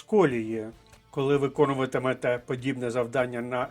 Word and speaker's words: колії: вжити фразелогізм ніби вибився з колії ще раз вертаю наголос на першому складі і фразеологізм означає зійти